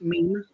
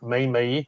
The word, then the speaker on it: meme: Meme. What? Meme. I know some people used to call it Mimi, which used to make me laugh.